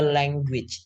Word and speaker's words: language: Learning a language. Teman-teman ingat bahasa ini cara penyebutannya itu langue. Ada ge-nya. Language. Gui.